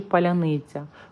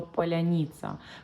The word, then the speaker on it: паляниця: фарбами пояснюють автори проекту через фонетичні особливості слова паляниця важко вимовляти окупантам коли ворог вторся на Київщині до столиці проривались диверсійні групи українці питали підозрілих людей Скажи паляниця у росіян виходила вимовити щось подібне до поляніца пропагандисти на російському телебаченні